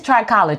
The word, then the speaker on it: trichology: first we really want to know what is trichology because this is the first time I'm ever